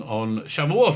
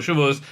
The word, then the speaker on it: Shavuot: I think they arrived at Mount Sinai, and the revelation took place on Shavuot or Shavuos, depending how you want to pronounce it.